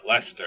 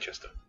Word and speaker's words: Leicester: yeah I'm talking about a country that calls Lester Lester instead of the way it sounds it's spelt to say on this light Chester it's Lester you want worse I'm